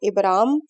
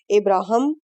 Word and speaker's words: ابراہیم: ابراہیم یعنی عظیم باپ۔ اس نام کے متعدد تلفظ ہیں، ابرام، ابراہم، ابراہام اور ابراہیم۔ دوسرا کلمہ ہے ابتلا،